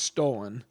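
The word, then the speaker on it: stolon: it's spelled St o l n but it's pronounced stolen and I'm going to give you it's multiple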